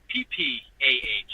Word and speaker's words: Summer Ripper: So if you're gonna say it right. It's not summer and then Ripper. I did do that. So it's the Summer Ripper. SUMMAHRIPPAH.